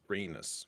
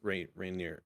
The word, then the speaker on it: Rhaenys: It's pretty much Otto versus Rhaenys. Rainier.